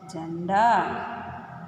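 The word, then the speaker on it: झंडा: Ja plus की symbol and plus da. How to pronounce this? Already we saw, no? Ja in da. Janda.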